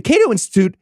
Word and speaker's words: Cato: would like you to roast the Cat-O Institute. I think it's Cato. Yeah, I mean, use the French pronunciation if you want.